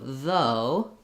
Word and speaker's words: though: one sound and then oh i should only have two sounds even though we have six letters so though has v and o even though it has all that spelling so when you start